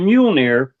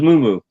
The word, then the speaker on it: Mjolnir: It was more Moo Moo, but I did not know how to pronounce it. So for all those years, instead of saying Mjolnir, it was Moo Moo.